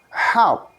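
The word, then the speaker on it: half: Help. The writing is H-A-L-F. Can we repeat? H-A-L-F. So we can pronounce, kita bisa ucapkan help. Help.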